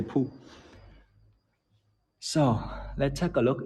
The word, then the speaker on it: Pu: Pu is how we say poo.